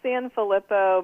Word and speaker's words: San Filippo: part right okay and your last name it's San Filippo but I've had it so many times it's